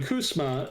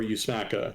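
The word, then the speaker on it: USMCA: see lawsuits so when kusma and again this is the agreement that replaced NAFTA kusma is the easiest way to say it there's actually different pronunciations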